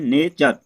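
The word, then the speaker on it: nature: तो एन ए टी यू आर ई, तो दोस्तों पढ़ते हैं नेचर।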